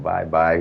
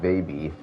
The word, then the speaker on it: Baby: I was pronouncing this wrong the first time when he raced with us. I was calling him bye-bye. He told me it is Baby.